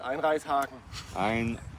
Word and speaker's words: Einreißhaken: Called Einreißhaken. Einreishaken. Yes, Ah. Einreishaken. Okay. That's probably the best thing I've pronounced.